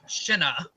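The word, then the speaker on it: Siobhan: Yeah, it's like these people have never met an Irish person with an Irish name, because it's like there's a name like Sihanouk, it's pronounced Shinna, or Sorshi is Sirsha.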